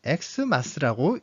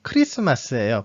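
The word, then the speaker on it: Xmas: 자, 여기서 엑스마스라고 되어 있는데 다시 한번 말하지만 이것은 엑스마스라고 읽지 않습니다. 엑스마스가 아니라 이것도 역시 크리스마스예요.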